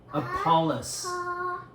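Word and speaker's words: Apollos: okay a apoll apollis how many syllables three syllables who's apoll that's that's one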